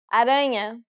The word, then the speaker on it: aranha: Aranha. Since this word ends with a vowel that isn't an I or a U, the stress will be on the second to last syllable.